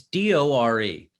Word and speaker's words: Dore: It's either Jimmy Dory or Jimmy Dore. I'm not really. It's Dore, but he's great.